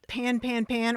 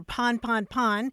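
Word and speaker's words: pan-pan: is is right about pan pan pan or pon pon pon uh I've heard it pronounced both ways but you're right that it does come from a French word pon that means a breakdown or a mechanical failure um and uh you're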